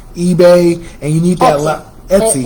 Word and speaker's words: Etsy: Some people have different websites, different affiliates with Amazon, name some other ones, with Etsy, eBay, and you need that Etsy. It's pronounced Etsy.